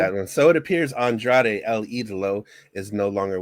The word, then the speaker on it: Andrade: It was about Andrea. Andre. I can't say his name. Charlotte Flair's ex-husband. There we go. That one. Oh, Andrade, yes, Yeah, I that's didn't a know if